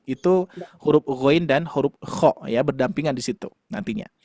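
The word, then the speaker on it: خ: Makanya huruf kho itu harus betul-betul tetap lembut. Kho, kho gitu ya. Kalau saya dikarenakan bertalaki bersama Syekh Aisyah Al-Ma'sarawi bersama Syekh Syekh Hanofa Maulana juga, pengucapan huruf kho-nya seperti ini. Kho, kho, kho.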